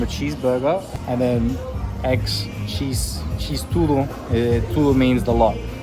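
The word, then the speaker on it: xis: So, they have the letter X in the Brazilian language and the letter X is pronounced cheese. So they just eventually it became a cheeseburger and then eggs cheese tudo.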